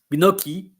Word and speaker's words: gnocchi: Like in French, chi it's chi, but because it's pronounced as all'italienne, you are pronouncing it gnocchi because chi in Italy it's chi.